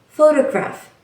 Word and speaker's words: photograph: For example, the word photograph, the stress is on the first syllable, photograph.